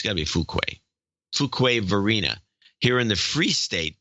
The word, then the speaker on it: Fuquay-Varina: to claim the protectorate of Holly Springs and Fuquay-Varina. I think that's how you pronounce it. Or Fuqua. No, it's Fuqua. Fuquay. It's got to be Fuquay. Fuquay-Varina.